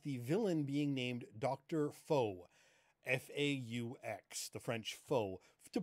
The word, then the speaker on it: Faux: I do have to say, though, in some regions of the U.S., Dr. Faux, F-A-U-X, will never be pronounced that way.